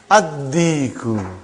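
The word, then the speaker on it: الديك: Ad-diku. Why you did not pronounce lam? Because it is sun letter.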